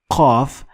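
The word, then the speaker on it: قاف: Last letter of today is qaf, qaf, and qaf has no direct equivalent in English, but it comes closest to ka sound. But you need to dig a little deeper in your throat to find your qaf. So qaf is a little bit backward in your throat. Kaf is a little bit in front.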